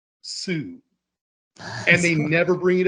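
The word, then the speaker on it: Soo: But for some reason, her name is spelled S-O-O. Sue.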